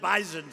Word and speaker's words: Bison: about bison I said I thought it was an S they said it is but it's pronounced bison so we didn't want to